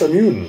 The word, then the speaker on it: Masamune: Masamune.